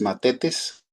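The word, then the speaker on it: μαθητής: G 3101 es matetes, así se pronuncia.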